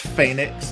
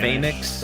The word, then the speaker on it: Fenix: But it's pronounced Phoenix in Spanish. Phoenix, because yeah. The E has an A sound, but I mean, he's international, so pretty much everybody just calls him Phoenix.